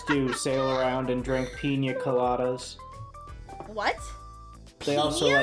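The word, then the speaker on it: piña: That's pina. Who is pina? No, there's a nyet over the end.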